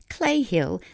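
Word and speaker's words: Cley Hill: Located at the edge of Longleat Estate in Warminster, Clay Hill, that's spelled C-L-E-Y Hill, has long been thought of as a hotspot for UFOs.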